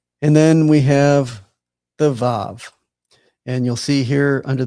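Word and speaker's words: ו: It also has two possible pronunciations. Um the W here is in way or a V as as in vine.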